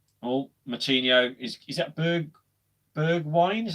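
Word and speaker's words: Bergwijn: again this year well moutinho is is that bergberg wine is how you pronounce it bergwing i like to see how poor violent get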